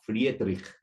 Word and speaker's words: Friedrich: día estaba checando y creo que se pronuncia Friedrich, porque pues es este alemán, ¿verdad?